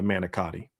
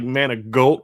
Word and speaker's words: manicotti: And then I get the manicotti. Which she pronounces way differently than I do. As an Italian girl, it's like "Managolt" or something. I'm like, "Honey, I see no G in manicotti.